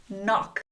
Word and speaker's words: knock: Knock.